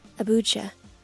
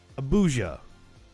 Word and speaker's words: Abuja: abuja the nigerian capital did i say it correctly if it's the nigerian capital we should probably look it up i want to be correct abucha abuja i wasn't far off the nigerian capital a